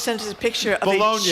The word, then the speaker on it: Bologna: Jay Bologna has just sent us a picture of Bologna is how he pronounces his name, by the way.